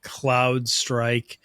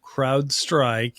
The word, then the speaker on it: CrowdStrike: that aren't in the security community call it CloudStrike, they're mispronouncing it, or they're calling it CrowdSec by accident. So CrowdStrike is the largest, behemoth of security platforms, and